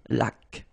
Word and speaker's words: laque: Remember the rule when you get this QU, well, U is not pronounced, so you get k like that. Une laque.